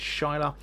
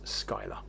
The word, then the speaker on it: Schuyler: It's pronounced in the sort of Dutch method, which is Shiloh. But here it says Skylar.